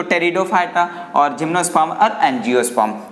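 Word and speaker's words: Pteridophyta: जैसे आप थैलोफाइट्स यानी थैलोफाइटा, ब्रायोफाइटा, टेरिडोफाइटा, पेटेरिडो नहीं कुछ बच्चे पढ़ेंगे पेटेरिडोफाइटा नहीं पी यहां पर क्या है? साइलेंट है। तो टेरिडोफाइटा और जिम्नोस्पर्म और एंजियोस्पर्म।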